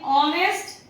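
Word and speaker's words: honest: नेक्स्ट इन ऑनेस्ट एंड इको, H हमेशा ही O के पहले है, इसलिए एको में भी ये साइलेंट हो जाएगा।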